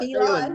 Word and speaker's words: Phelan: Is that how you pronounce it? Yep, Phelan? Yep, Phelan. It's a New England. Phelan. In Ireland, it's Phelan.